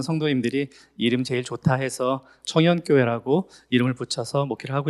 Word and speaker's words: 청연: 예 안녕하세요 경기도 하남시에 있는 청연 교회에서 목회하는 임대용 목사라고 합니다 만나서 반갑습니다 어 저희 교회는 청연 교회인데요 좀 된 발음으로 발음하시는 분들은 청년교회 이렇게 발음도 하세요 그래서 그 그 말을들은 분들은